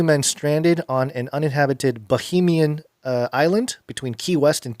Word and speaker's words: Bahamian: Bahamian. Okay. But not Bohemian, which is what you first said.